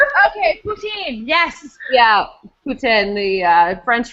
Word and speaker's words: poutine: I do poutine now.